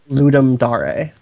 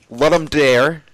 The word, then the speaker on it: Ludum Dare: I pronounce it Ludum Dare. Okay, so that's what I've heard the Roman, most. That's Roman Catholic Latin.